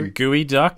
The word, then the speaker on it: geoduck: phone to look up was it a gooey duck yeah it's spelled g